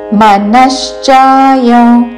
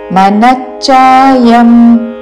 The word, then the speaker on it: మనశ్చాయ: ఠవత్తు అధిష్టాయ కాదు అధిష్టాయ మనశ్చాయ మనచాయం అనకూడదు మనచాయ మనష్ తల లవిషాకి చవత్తు మనశ్చాయ అనుస్వారము నాసికం వ ఉచ్చారణ